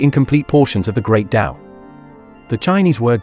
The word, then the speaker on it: Dao: heresy or simply incomplete portions of the great Dao the Chinese word Dao pronounced Dao means the way the path in the common